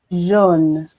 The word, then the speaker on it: jaune: Jaune. Paris? Jeune, jaune. Très bien, très bien. This is always a problem. You need to remember, for those who are watching, EU is E and AU is O.